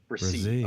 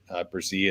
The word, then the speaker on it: Bresee: And by the way, Bresee is how we pronounce it? Bresee.